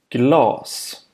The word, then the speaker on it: glas: For example, this word has a long vowel, Glas. and it means glass. This word has a short A vowel, Glass.